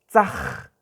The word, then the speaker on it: tzaj: por ejemplo, la palabra tzaj, tzaj. Entonces hay que raspar un poquito la garganta para pronunciar la letra J.